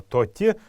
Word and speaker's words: тати: старину был полноценный звук и поэтому ударение будет падать именно на последний слог то те правильно произносить это слово давайте еще раз повторим его тати тати тати это попугай